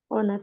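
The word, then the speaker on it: honours: degree uh for example b h is silent h honors after after your uh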